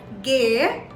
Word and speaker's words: G: is the g so g in german is pronounced as gay gay and the word that i would like